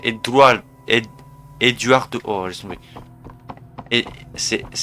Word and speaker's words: Eduardo: Non, c'est pas Eguardo, c'est Eduardo.